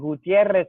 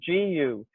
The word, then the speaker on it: Gutierrez: And Gutierrez is Gutierrez. Sorry, I speak Spanish.